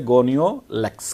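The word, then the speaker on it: Gonyaulax: Next है बच्चों जो हमने डाइनोफ्लैजिलेट्स, इसका एग्जाम्पल हम लेके चलेंगे गोनियोलैक्स। इसको हम प्रोनाउंस करेंगे गोनियोलैक्स के नाम से, या गोनियोलैक्स।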